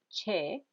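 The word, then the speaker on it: xe: the noun you add the word part che that is x e pronounced che to the end and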